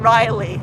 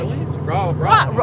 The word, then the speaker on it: Raleigh: Oh, Raleigh, not Riley. Yes. What did I say? What do I say? Raleigh?